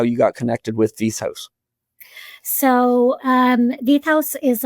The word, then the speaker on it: Veith House: now and that's I know I'm going to mispronounce this once again, V House.